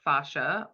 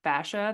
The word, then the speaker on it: fascia: originally from Cincinnati, so I always call it fascia. That's just the hard A's that always happen with me, but I've heard it pronounced multiple ways. But fascia is our connective tissue.